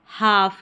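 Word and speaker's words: half: L silent रहता है हाफ के अंदर।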